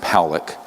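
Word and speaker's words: Pawelec: 600,000 views this man William Pock it's pronounced poic uh was a man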